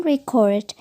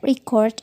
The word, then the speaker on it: record: differ in the noun record emphasis is on the first syllable whereas the verb record is pronounced with stress